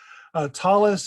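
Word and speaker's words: tallis: Talus is simply the Ashkenazi pronunciation, and talit is the Sephardi pronunciation, or the modern Hebrew pronunciation.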